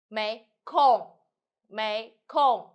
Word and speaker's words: 没空儿: after all you just blow up your tongue May Come okay number seven if for the sustainable end with in this situation with no pronounce um and no um just e is